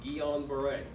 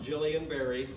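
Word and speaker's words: Guillain-Barré: me if I'm wrong it is pronounced Keon beret not Jillian Barry Jillian Barry you're gonna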